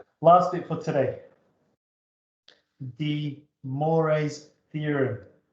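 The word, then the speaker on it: Moivre: De Moraes theorem, usually pronounced as sometimes pronounced de Mau's theorem. So it's a French mathematician. A lot of silent letters, let's say, but you'll probably hear me say de Moraes. So de Moraes. Moray, I guess.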